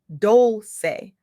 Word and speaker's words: Dolce: I'm your host, Dolce, pronounced Dolce, like sweet softness whispered in French, and today I'm deeply